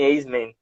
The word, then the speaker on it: Eissmann: A gente quer, primeiro, saber quem é Eisman. Eisman? É Eisman, também não sei direito, é Eisman. alemão, então a Não é É pronúncia.